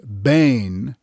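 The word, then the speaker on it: בֵּין: Using the biblical Hebrew word bane, H996, reinforces the dividing of light and dark, pronounced bane, meaning between, elsewhere, also translated asunder.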